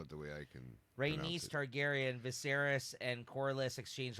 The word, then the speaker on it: Rhaenys: Later that afternoon, in the Red Keep's gardens, Viserys meets with Corlys and his wife, Princess Rhaenys Targaryen. How do you say her name? Am I saying it Rhaenys?